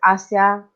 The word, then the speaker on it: Asia: we i pronounce it asia uh like the name the character um and this is